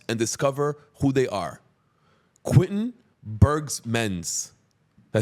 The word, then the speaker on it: Quentin Berghmans: Quentin Berghmans.